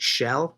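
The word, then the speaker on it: Kjell: a gentleman by the name of Bob you pronounce it she'll but it's like KJ e ll he's from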